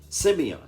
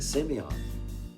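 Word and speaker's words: σημεῖον: greek that word signs is uh simeon that's how you pronounce it semion and what it means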